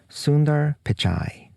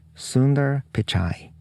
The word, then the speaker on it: Sundar Pichai: and alphabet is Mr Sundar pichai I asked my colleague and a post-doctoral researcher from India about how to pronounce his name so I hope my pronunciation is almost right if not perfect that's Mr Sunder picai